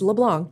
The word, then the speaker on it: LeBlanc: And yes, it's Leblanc. Don't pronounce the C.